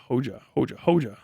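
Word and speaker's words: Hoxha: If I remember correctly, Hoja is pronounced like Hoja.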